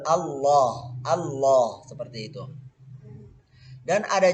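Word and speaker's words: الله: Tapi dalam pengucapan lafzul jalalah, lam ini akan menjadi tebal. Jadi Allah, bukan Allah, bukan pakai wa tapi tetap lam ya, tapi tebal. Aslinya itu kayak pengucapan umat Nasrani Allah tapi tebal, Allah, Allah seperti itu.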